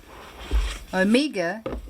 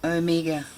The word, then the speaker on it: Omega: a halloween leather a halloween leather omega now omega is actually how the name is pronounced the alpha and omega americans say everything